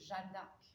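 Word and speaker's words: Jeanne d'Arc: official name is now her name in French is Jandak and you'll sometimes see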